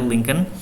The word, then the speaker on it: Lincoln: Jadi Presiden Abraham Lincoln ini, Lincoln dibacanya Lincoln, menginisiasi versi modern ya